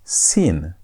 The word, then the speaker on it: sin: The pronunciations are different. This is shin. That is sin. That had s sound. This has sh sound as in the word shout.